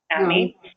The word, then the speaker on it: NAMI: Obviously, NAMI, is that how you pronounce that? NAMI? NAMI.